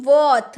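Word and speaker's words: worth: अब है वर्थ, वर्थ, वर्थ नहीं वर्थ, र साइलेंट, वर्थ।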